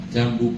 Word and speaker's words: Jambu: Jambu pol itu tulisannya J A N B U Ju tapi bacanya jambu.